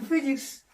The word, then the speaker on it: physics: 그럼 지금부터 시간다면은 when physics enter가 아니고 enters, when physics, ph의 발음은 F로 되죠. physics.